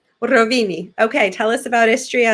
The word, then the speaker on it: Rovinj: So the next one, which I have trouble pronouncing Croatian words. What is it? It's Rovinj. Rovini.